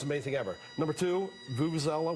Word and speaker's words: vuvuzela: Number two, Vuvuzela, whatever the heck it's called. Yeah. Thank you for pronouncing it correctly.